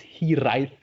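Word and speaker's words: Hiraeth: The main term is Hiraes with a th at the end, but it's pronounced a bit different. It's pronounced Hiraes in the Hmm. language, in the Welsh language.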